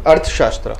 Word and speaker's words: Arthashastra: Okay, so tell us about Arthashastra. I think I pronounced your name Arthashastra.